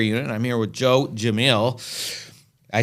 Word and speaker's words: Gemayel: Well, it's Gemayel is a proper pronunciation. Now that I know you know Arabic, now I actually want to sit and learn something. You got to try to say it right, but Gemayel is the way I usually say it in English.